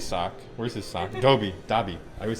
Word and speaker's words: Dobby: where's his soccer toby dobby i always say his name wrong i always say dolby it's the dolby theater